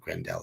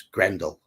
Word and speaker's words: Grendel: But it's not Grendel, it's Grendel, with the emphasis on the first syllable.